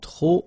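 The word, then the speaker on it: trop: If you want to use tro and tro means too many okay then you will have to put the and the noun without the article. Okay remember too many don't pronounce the final pay the and the noun without the article.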